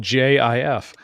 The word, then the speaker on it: GIF: Josh Wright because he does that whole GIF hard G, soft G thing. And there was a security company called JIF.